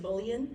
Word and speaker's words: mullein: Mullein. I've heard people say mullion, that's how I remember to spell it that way.